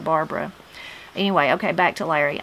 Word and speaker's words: Barbara: And Barbary, also you'll hear Barbara. It changed to Barbary instead of Barbara.